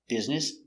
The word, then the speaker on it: business: doing they're doing business pronunciation business b i it short it b z b vibration Z is is it s with no vibration s business business business stress only first syllable business business one business